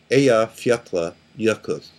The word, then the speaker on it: Eyjafjallajökull: And as I understand that it's pronounced Eyjafjallajökull.